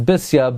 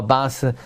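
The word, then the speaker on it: בתיה: In Divrei Hayamim, the correct pronunciation is Bisya, but conventionally, somehow Basya, daughter of God, became the pronunciation. But Bisya is more precise.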